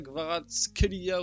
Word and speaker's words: Kvaratskhelia: va parler de gvicha gvarach Kelia d'ailleurs j'ai vu que normalement ça se prononce gvicha gvarat Kia ou avec un bref c'est hyper compliqué à dire on va l'appeler gvara